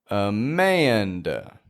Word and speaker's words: Amanda: Just like Daniel, Amanda makes this transition between the A and the N when you pronounce it.